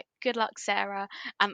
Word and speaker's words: Sara: Sara I've always thought Sara is the name that should be so easy to pronounce like you've got Tara Zara Cara why is it s s is suddenly Sarah when it's with an S at the front it doesn't make sense